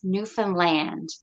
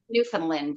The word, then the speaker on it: Newfoundland: name right yeah so the way you can remember is understand Newfoundland that's how it's pronounced not Newfoundland or new things um